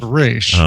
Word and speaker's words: Ra's: So we basically once you've gotten to a certain level, he pulls you aside and says, "I know what it's pronounced Raish.